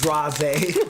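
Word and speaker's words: dragées: Draze. That's how they say it all fancy like.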